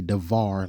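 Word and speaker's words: דבר: And there it is, dabar. Let's see how they pronounce it. Strong's H 1697. Davar. Davar. And they say davar like it's a V there.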